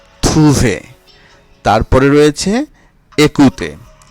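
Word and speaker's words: écouter: তারপরে রয়েছে একুতে। একুতে, এখানেও ওয়েখ আছে, এর উচ্চারণ এ।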